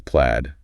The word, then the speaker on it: plaid: That's plaid. Short a sound. Plaid. Not played.